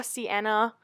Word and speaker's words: sienna: and then I took raw sienna see that's how you say it and I ran that